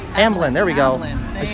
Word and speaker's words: Amblin: Oh, someone said Amlin. Amblin. There we go. I just can't pronounce it.